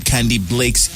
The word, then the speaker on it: Candybleakz: for those people who don't already know who candy Blakes is how am I pronouncing it right it's Blake's right yeah okay